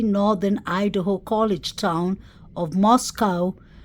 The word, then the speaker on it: Moscow: Idaho College Town of Moscow pronounced not like the Russian Capital but to to r